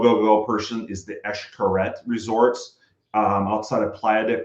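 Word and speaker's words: Xcaret: Um is Eshkaret. Uh it's spelled with an X. It's a Mayan word. And so there's Eshkaret, Eshkaret Artee, which is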